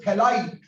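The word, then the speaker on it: phthalide: So this is ester formed which is called as थैलाइड। PH silent है, क्या बोलेंगे इसको, थैलाइड की फॉर्मेशन।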